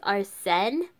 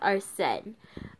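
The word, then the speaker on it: Arsène: this name wrong but I believe it's our sin Arsene yeah it's supposed to be French but I think it's our set xana mobis in an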